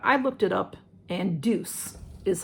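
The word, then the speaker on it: Douce: the deuce nobody knows how to say d-o-u-c-c-e douche uh deuce a lot of people have um douche people um so this is the punk volumizer mascara i looked it up and deuce is how you pronounce it and this is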